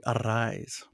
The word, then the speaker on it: Arraez: He does the rolling of the R's with a double R. So when they announce him, they say Louis Arraez.